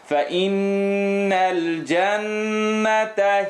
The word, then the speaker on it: فَإِنَّ الْجَنَّةَ: فَإِنَّ الْجَنَّةَ هِيَ الْمَأْوَى فَإِنَّ الْفَإِ نون شَدَّة فَإِنَّ الْجَنَّةَ double shadda here and then shadda on top of the noon as well. Two noons. فَإِنَّ الْجَنَّةَ هِيَ الْمَأْوَى مَأْوَى.